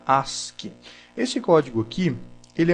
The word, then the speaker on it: ASCII: é o código Ask se escreve a s c i i mas se fala se pronuncia Ask esse código aqui ele